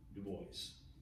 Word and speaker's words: Du Bois: it that way and generally when somebody doesn't pronounce their own name that way we don't either so it's the boy william edward berghardt dubois whose ideas diverge significantly from those of booker